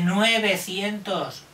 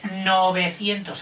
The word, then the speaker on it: novecientos: son nueve cientos pero no se dice nueve cientos sólo dicen lo que son un poco canteros se dice novecientos acuérdate novecientos cambian 1963